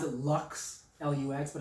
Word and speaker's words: Lux: Some people pronounce it Lux, Lux, but it's Lux.